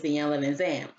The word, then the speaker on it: Iyanla Vanzant: Some people call her Iyanla Vanzant, but if I'm correct, I remember her saying that the way you pronounce her name is Iyanla Vanzant.